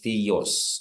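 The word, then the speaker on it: θεός: When I'm saying theos I'll emphasize the omicron.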